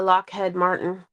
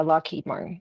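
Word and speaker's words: Lockheed Martin: have Wyatt and her son works at uh Lockhead Martin. Oh Martin, I said it wrong. What works where? Yeah. Loheed Martin.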